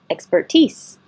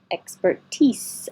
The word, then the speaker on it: expertise: all these little things expertise expertise I know this looks like teas like nickname for t-shirt but it is an S sound tease proffered expertise excuse